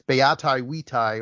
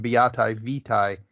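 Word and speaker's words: beatae vitae: In Latin, it's beati vitae, or to give it the ecclesiastical pronunciation, beati vitae.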